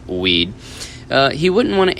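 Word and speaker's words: Wead: biographer Douglas weed huh jokes pronouncing w-e-a-d from Douglas weed as weed uh he wouldn't want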